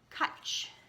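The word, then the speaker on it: cwtch: she names it and it's called kuch but it's written like that and Erin I won't read you letter but I just I do want to say what this means pronounced catch catches a Welsh word which has no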